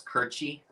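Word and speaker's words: Curci: I always thought she pronounced it. Am I fat? Pennsylvania Dutch. So Michael, I said it right. It's Kirchy.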